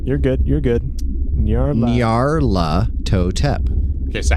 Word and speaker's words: Nyarlathotep: There's an L in there you're not even pronouncing. You're good. Nyarlathotep.